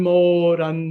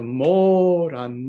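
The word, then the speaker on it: mòran: And even without getting into the rest of the poem yet, you'll notice that Moran has a stress mark, an accent on it. So that's a long syllable. So we have Moran Moran Mullich.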